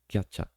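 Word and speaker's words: キャッチャー: and in this anime they pronounce catcher as kcha katcha or katcha then the the first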